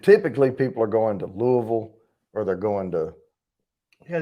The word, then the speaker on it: Louisville: And typically people are going to Louisville or they're going to. Yeah, they didn't have it in Louisville, right? No. Yeah. Oh, Cindy, did you hear him say Louisville? Louisville.